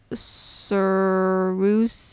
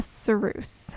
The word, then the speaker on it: Ceruse: see er us ye ceruse isn't a sir ruse a it's pronounced a ceruse okay well I mean